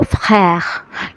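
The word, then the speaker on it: frère: দর্শক, ফ্র্যার উচ্চারণটা কিন্তু ফ এবং খ এর মাঝামাঝি। উচ্চারণটা একটু কঠিন, কিন্তু প্র্যাকটিস করতে করতেই কিন্তু হয়ে যাবে।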